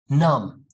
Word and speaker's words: numb: see m b together when you see those together do not pronounce the okay just say climb bomb num you know that song linkin park i've become so numb i can feel you